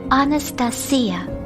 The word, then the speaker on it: Anastasia: The proper pronunciation is Anastasia, but everyone just calls me Asha.